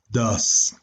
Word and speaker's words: does: Ya habíamos dicho que este se pronuncia do y este se pronuncia como si fuera un dos muy fresa. ¿Cómo digo el número 2? Pues así, 2, pero si fuera muy fresa yo lo diría does.